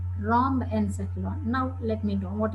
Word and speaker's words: rhombencephalon: No, just please listen my pronunciation. Prosencephalon, mesencephalon, rhombencephalon.